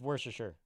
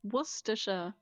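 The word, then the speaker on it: Worcestershire: Speaking of Scooby-Doo, there was a Scooby-Doo skit with worster sauce, which is how I grew up learning how to say it. Worster is No, it's Worersher.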